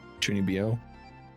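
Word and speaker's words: 中二病: she's like uh uh the stereotype the chuni tunibio it's how you pronounce it that's like that's like her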